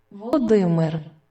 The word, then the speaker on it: Володимир: Володимир. All right, that's how you say it in Ukrainian. Владимир. And that's how you say his name in Russian.